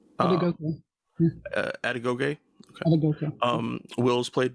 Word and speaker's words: Adegoke: I can't remember how to pronounce his last name. Adegoke. Adegoke.